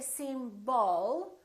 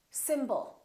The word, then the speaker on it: symbol: The first syllable is stressed, and the second syllable is reduced. When we have a reduced vowel, we don't pronounce it fully. We don't say symbol. We reduce it and we pronounce it as a. Symbol. Symbol. So the O changes.